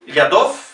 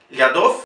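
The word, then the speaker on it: Лядов: Anatoly Lyadov. Fíjense, la O lleva acento, pronunciamos O. Anatoly Lyadov.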